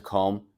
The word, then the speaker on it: comb: Added a nine to comb. Yeah, that's very common because we uh we would not pronounce the B because it's silent.